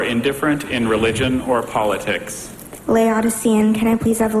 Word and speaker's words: Laodicean: up and ready to spell her final word Laodicean Laodicean campus at the definition lukewarm or indifferent in religion or politics Laodicean can I please have a language of origin